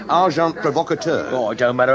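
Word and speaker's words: agent provocateur: send in uh oh well probably you wouldn't know the term and agent provocator amazing packer the pronunciation however is arjant provocator it don't matter how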